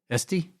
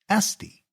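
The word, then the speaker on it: S'T: Estie. Yeah. And it's spelled S apostrophe T. Estie. It's so unique.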